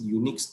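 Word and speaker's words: UNIX: यहाँ पे इसका एक्चुअल प्रोनाउन ये होता है यूनिक्स, UNICH।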